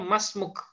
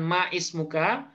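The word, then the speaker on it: ما اسمك: Beliau nyebutnya masmuk, bukan man ismuka, bukan, tapi masmuk. Nah, kenapa masmuk bukan ma ismuka? Karena hamzahnya adalah hamzah wasol. Nah, hamzah wasol itu kalau dia di tengah itu tidak dibaca.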